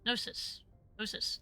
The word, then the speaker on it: Gnosis: Gnosis? Gnosis. That's how you pronounce that.